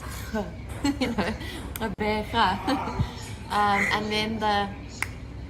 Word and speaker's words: Gqeberha: And secondly, how would you teach somebody else how to pronounce it? Okay, so I tried to say it. It is Gqeberha.